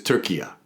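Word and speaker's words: Türkiye: was like you know we know you call us turkey this is Tura it's they even spell it and when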